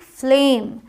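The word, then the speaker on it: flame: ये हुआ फ्लेम ठीक जब दो कॉन्सोनेंट अलग-अलग साथ में हो तो वहां आप आधा स्वर निकालेंगे ध्यान रखिएगा तो ये आपने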